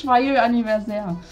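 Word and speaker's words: Joyeux anniversaire: Das heißt Schwayö Anniversaire.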